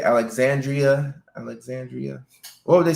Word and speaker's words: Alexandria: I got it right most people don't pronounce the Ria at the End Alexandria isn't that how you say Alexandria Alexandria what would they say alexand alexand um really with